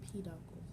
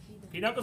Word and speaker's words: peduncles: So it goes to the peduncles. The peduncles. Peduncles are fun to say, right? Say peduncles. Peduncles. You know why? How many words do you know that rhyme with uncles?